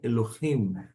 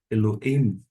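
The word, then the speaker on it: אֱלֹהִים: Algumas pessoas vão pronunciar o re de uma forma, digamos assim, muda. Elohim, não pronuncia. Outras pessoas vão pronunciar Elohim, him. Mais fraquinho, eu sei, mas estou falando só para você acompanhar. Quer você pronuncia o re ou não, o importante é que você saiba que tem o re ali.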